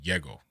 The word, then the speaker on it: Yego: Like Y-E-G-O. Yeah, and it's funny because in Spanish, J-E-G-O is would be pronounced not Jego, not Yego, but like Hego. Like the J is like silent.